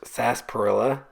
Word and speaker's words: sarsaparilla: start with it is spelled Sara Parilla but pronounced sasparilla that's one weird thing um I really wanted